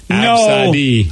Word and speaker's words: Abcde: Absadi, and it's spelled ABCDE. No, it's not. Absadi. That's like having password as your password. No. Yeah, right? You didn't name your Not kid that I've ever done Absadi and spell it ABCD.